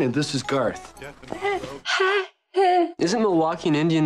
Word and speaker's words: Milwaukee: Isn't Milwaukee an Indian name? Yes, Pete, it is. Actually, it's pronounced Miliwake, which is Algonquin for the good land.